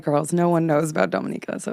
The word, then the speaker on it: Dominica: because you moved to Dominica. Yeah. Okay. It's all about how you say it. Otherwise, people think it's Dominicana and they're thinking Dominican Republic.